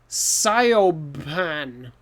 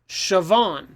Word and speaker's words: Siobhan: name and it's pronounced siobhan so what what the heck but it's just like the french names right the letters sound different in different languages so in irish these letters make different sounds so it if you